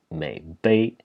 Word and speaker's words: 渼陂: According to my go-to dictionary that I use all the time, the proper pronunciation in this case for the signification should actually be Meipi.